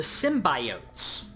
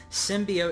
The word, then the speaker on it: symbiote: Like with a softer O.